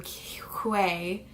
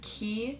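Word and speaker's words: Quay: my my last video I call them Q way but I guess people were commenting that it's key and that's the way that you pronounce them but I have my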